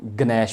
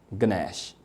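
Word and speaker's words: ganache: ग साउंड जो है वो साइलेंट नहीं है और CH चूँकि क की आवाज़ भी देता है, च की आवाज़ भी देता है, श की आवाज़ भी देता है, यहाँ पे ये श की साउंड दे रहा है।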